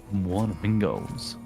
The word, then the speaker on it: Wanamingos: What Well, the slant of that, man. Flamingos. Wannamingos. Gotta say it like that.